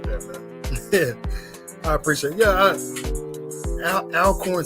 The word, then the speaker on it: Alcorn: see uh mr murray says it's pronounced all corn so i appreciate that i appreciate it yeah alcorn sounds like it's